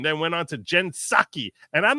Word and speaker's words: Psaki: I always have said Psaki, but now I'm starting to think it's more like Psycho, like the silent P in Psycho.